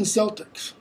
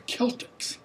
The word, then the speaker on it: Celtics: in latin is never it's not the boston celtics it's the celtics always it's not cicero it's